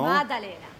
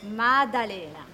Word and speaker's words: Maddalena: I tried to pronounce it, but there's a wonderful lady here, and she can pronounce it for me. I would say Via della Maddalena. Maddalena, no? Maddalena. I'm sorry? Maddalena.